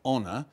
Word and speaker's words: honor: but of course we we inherit some French words like honor and we don't pronounce the h on the other hand